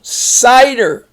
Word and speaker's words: cider: That I is long because it's the end of a syllable, accented syllable. Cider.